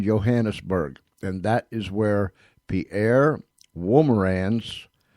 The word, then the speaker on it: Pierre Wolmarans: And that is where Pierre Wolmarans, I asked him how to say it, and he said it's close enough.